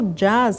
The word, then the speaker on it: jazz: pode ser música exatamente ele escreve Jazz como uma música americana mas ele pronuncia jaz E aí já tem